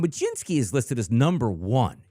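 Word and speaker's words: Mlodzinski: How do you pron or I know how to pronounce ML O D, right? Majinsky.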